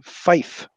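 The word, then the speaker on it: five: 5 is fife, so there is a F that replaces the V. It sounds weird, but it's fife.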